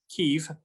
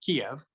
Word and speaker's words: Kyiv: It is true that the history of the area is complicated, but the capital of Ukraine, Kyiv, no longer the Russian pronunciation of Kiev, was founded in the